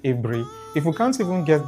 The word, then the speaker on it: Aburi: It is not Aburi. It is pronounced Aburi.